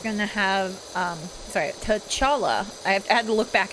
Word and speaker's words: T'Challa: i think there's going to have um sorry t'challa i had to look back at the pronunciation t'challa sister shruti become the black panther